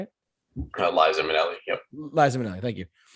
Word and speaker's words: Liza Minnelli: Liza Minnelli.